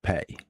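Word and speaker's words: פ: It's pronounced pay.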